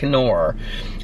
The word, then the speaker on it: Knorr: The K is not silent. Knorr.